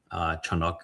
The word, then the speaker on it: Chanuk: Chanuk is the correct pronunciation of it.